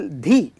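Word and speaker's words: धि: Shiva, and then syllable Dhi. Dhi refers to Devi Parvati. And also Dhi means Buddhi. Bhargo Devasya Dhimahi Dhiyo Yo Naha Prachodayat. So the syllable should always be aspirated, like with the Mahaprana.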